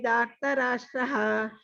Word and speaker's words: धार्तराष्ट्राः: hatvana jijivishamaha sevastitaha pramuke dhartarashtraha. You have to practice this. All these mahapranas you have to practice. And these dirghas, dhartarashtraha. Dhartarashtraha. Yes. It has to be pronounced like that only.